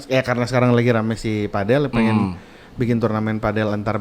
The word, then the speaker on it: padel: Kalau katanya mah baca cara bacanya padel. Padel. Karena dari Spain, Mexico Oh. gitu. Tapi kalau boleh Amerika mah enggak we pedal.